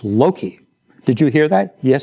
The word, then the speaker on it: Loki: a mistake one day and called the dog lokai and Dr gabeline said Frederick you must learn to pronounce the name of the dog correctly it's Loki did you hear that yes sir it's Loki now say Loki 15 times Loki Loki sir